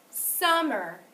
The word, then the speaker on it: summer: Summer. Did you hear that it was louder, longer, and higher on the first syllable?